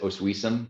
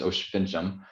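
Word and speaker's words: Oświęcim: in osh fincham which is english we might pronounce it oswesom but it's osh fincham um that's polish for and auschwitz is the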